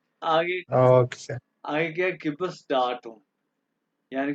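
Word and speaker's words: Geburtsdatum: या place of birth, sir date of birth का दोबारा प्रोनाउंस करवाएं। गिबोस डाटम, ये गिबोर्स डाटम गिबोस डाटुम, हाँ गिबोस डाटुम।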